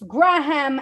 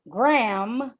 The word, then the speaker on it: Graham: We pronounce Graham Avenue not like the cracker, Graham, but like if the first half of the word got stuck in your mouth and you had to breathe to let out the second, Graham.